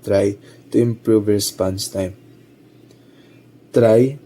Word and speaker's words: trie: Try pronounced try is a treel like data structure that can compactly store strings.